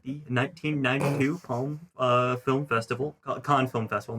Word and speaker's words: Cannes: So this film won the Palme d'Or at the 1992 Palm Film Festival, Cannes Film Festival, not Palm Film Oh, Festival. apparently it's Can. Cannes, I don't know.